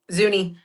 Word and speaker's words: Zuni: And I can't remember how to pronounce this next one, the the Zuni. Zuni.